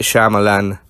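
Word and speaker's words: Shyamalan: at number two is the m night shamalan I can say it right cuz I'm Indian not M Night shamalama dingdong as a lot of people call him that's racist film The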